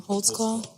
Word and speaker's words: Holtzclaw: But then very quiet on this Daniel Holtzclaw. Is that how we say his name? Holtzclaw.